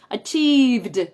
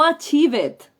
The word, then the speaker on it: achieved: years of hard work She Finally achieved achieved vale No achivet no achivet vale esto de la pronunciación